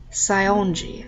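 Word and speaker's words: Saionji: I gotta freaking evaluate her last name here scionji okay so that is how you pronounce it can I maybe offer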